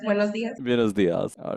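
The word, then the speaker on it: buenos días: Is this how we pronounce it? That is correct. Buenos dias.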